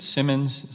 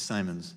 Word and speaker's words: Simons: that you have commissioner is it Simmons set the pronunciation it's Simons its Simons okay well I was